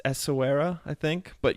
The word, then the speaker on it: Essaouira: It's Essaouira, I think, but if you say it with a French accent, that's correct, Okay.